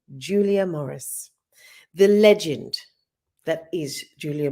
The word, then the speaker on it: Julia Morris: Coming up, we'll be chewing the fat and gulping some of it down too with Lady Julia Maurizio. I'll say it properly now. Lady Julia Morris, the legend that is Julia Morris.